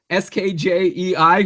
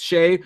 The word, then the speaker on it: Skjei: Shea, Skjei, who you said his name is pronounced Shea, which is good that you told me that, or else I would have said Skj.